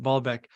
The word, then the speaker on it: Baalbek: thanks for having me back your article on bailbeck the Temple of the Giants or you might pronounce it balbec um can you give us just a snapshot